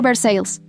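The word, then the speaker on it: Versailles: Walter Grieves vivía en Versalles, Kentucky, pronunciado Versales. Porque los quentuquianos no creen que los franceses deban tener la última palabra sobre nada.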